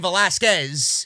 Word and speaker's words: Velasquez: generate any rating if Tyson Fury and came velasca was didn't or came Velasquez sorry I mispronounced the wrong there'll be people in the